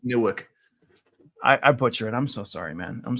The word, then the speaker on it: Newark: 10.3 and new 10.1 you got to get your New Jersey W accent going it's nck Nork I'm never going to I'm not I'm never gonna say it right you're from North Jersey it's newick I I butcher it